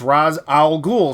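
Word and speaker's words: Ra's al Ghul: G G yeah well but it's Raaz ra apostrophe eser it's like oh raah like the sun god it's Ra's al ghoul so this is Al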